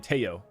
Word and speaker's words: Tello: I've got to get better at pronouncing the name Teo. It's the 2 L's.